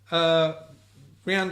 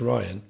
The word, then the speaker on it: Rian: Rianne Johnson. What? I said Rihanna, didn't I? You said Rianne. I think I said it wrong earlier. I think it's Ryan.